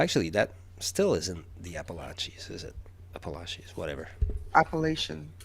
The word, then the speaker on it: Appalachian: BC has mountains, and somewhere between Vermont and Quebec, there's the I don't know how to say it in English. Appalachian? Yes, that's how. I was like les Appalaches.